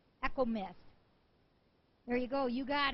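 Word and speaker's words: Echomist: And the winner to this one is Econo Miss. I always say her name wrong. It's E C H O M I S T. Echo Miss.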